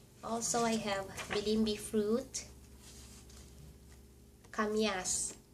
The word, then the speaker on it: kamias: kamias kamias It is pronounced the same.